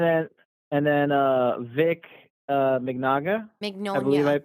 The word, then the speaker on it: Mignogna: Mignogna. I pronounced that correctly. Mignogna.